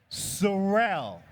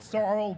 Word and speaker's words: Sorel: And by the way, by the way, Surell, not sorrow, because I have a speech impediment.